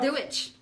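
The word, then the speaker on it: Dia dhuit: Dewitch.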